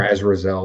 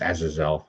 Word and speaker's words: Azazel: even call Azazel or Azrazel, or however you want to pronounce it. It's Azazel, by the way. But anyway, I've always heard of Azrael. No, it's Azazel.